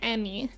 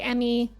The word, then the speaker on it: Emme: worldwide new welcome in my name is pronounced Emmy I always say in person when I introduce myself it's like Emmy Emmy like the award um and that usually